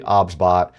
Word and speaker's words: OBSBOT: The pronunciation of the product is actually OBSBot.